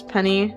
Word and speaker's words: Penni: So, but you know my name is Penny. I know it's spelled like Penny like that. Even though like you know it said like the word Penny.